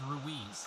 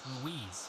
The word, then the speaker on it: Ruiz: my dumb American tongue the character's name r UI Z is pronounced rui throughout the movie I looked online and I guess there's like a million pronunciations for this particular name throughout the world from Spain say that but throughout my initial recording I pronounced it as ruise I'm sure there's other